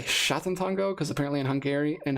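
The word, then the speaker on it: Sátántangó: differently some people say sat Tango some people say Satan Tango some people say shatan Tango because apparently in hungar in Hungary in Hungarian you pronounce the s's with like an H so I think Shango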